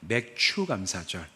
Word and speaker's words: 맥추감사절: 주이자 2023년 맥주 감사절입니다 발음을 항상 잘해야 된다고 말씀드렸죠 맥주 감사절이 아니라 맥추감사절 보리를 추사하는 계절에 우리가 첫 수확을 가지고 감사하는 계절 이렇게 우리가 감사절을 지키는데